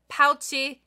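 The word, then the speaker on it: ポーチ: little play on words pouchi is how you say pouch in Japanese and Cham pouch and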